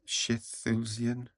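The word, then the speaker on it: Schilthuizen: Professor meno shusan I think that's how you pronounce that s c h i l t h u i z en Shi shulian that was really good I really enjoyed that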